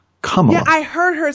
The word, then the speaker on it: Kamala: oh by the way her name is comma i think it's come on i heard her say